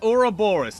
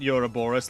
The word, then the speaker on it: Ouroboros: good but welcome to Aura Boris not you're a Boris like they mispronounced the entire game more or less the